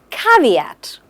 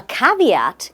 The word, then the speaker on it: caveat: to our next word which is caveat it's pronounced as c v at caveat a caveat is a condition limitation or warning that affects